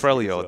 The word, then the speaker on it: Freljord: Freljord? We're really on top of our lore here. Pronunciation's fantastic. Freljord, there we go.